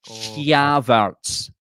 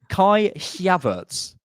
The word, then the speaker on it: Kai Havertz: He goes Havertz. That's not an accent thing. You're saying his name wrong. Is it Kai Havertz? Who? Havertz. Kai Havertz.